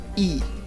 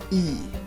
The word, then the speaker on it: y: important word to know this is how you say and in Spanish e e e that's pretty much it e now try to